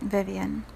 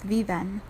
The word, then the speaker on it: Vivienne: So for example, if you say my name, Vivienne, in English it's just Vivienne. If you pronounce it in the Spanish interpretation, which means they live, it is Viven, right?